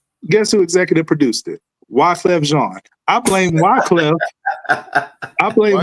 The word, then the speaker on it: Wyclef Jean: Wyclef Jean. Rhymes with Sean. Jean.